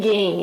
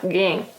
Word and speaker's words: Gen: Um aluno meu que é japonês me ensinou a dizer, a pronunciar direito o nome desse personagem. Ele me disse que é Gen, hein? Então olha lá, Gen, tá?